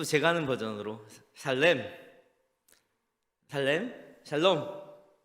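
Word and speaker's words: שלום: 이제는 또 제가 하는 버전으로 샬롬, 샬롬. 네. 발음 잘못하면 샬롬 하면 놈 하는 것 같아서 저는 그냥 히브리어 원어 발음처럼 살렘 이렇게 말을 하는데요.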